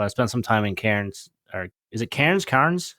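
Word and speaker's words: Cairns: spent some time in Karen's or is it Karen's KS how do you pronounce it again can cans cans yeah as in like like as in like a Coke cane cans yeah and it always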